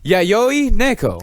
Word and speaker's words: Yayoi Neko: I asked them, and they said Yayoi Neko. And you say they because the pronouns does not want to be addressed as he or she, which is totally fine. Yeah, Yayoi Neko.